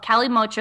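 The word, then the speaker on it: kalimotxo: Well, so in the 1970s, Basque culture, this is a classic cocktail called Cali Mocho. It's spelled with a K, K-A-L-I-M-O-T-X-O.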